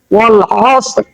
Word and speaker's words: والعصر: এই রটা তো উচ্চারণ করতে হবে নাকি? রটা উচ্চারণ করতে হবে না? হ্যাঁ। ওয়াল আসর والعصر.